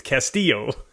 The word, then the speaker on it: Castillo: from yesilio you know there's no IO at the end yes you can never it's Castillo you want to know